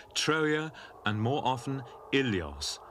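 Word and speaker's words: Ilios: troa and more often ilos originally pronounced willos now in this General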